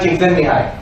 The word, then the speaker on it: Csikszentmihalyi: Mihai Csikszentmihalyi. I have to congratulate myself on having got the pronunciation right.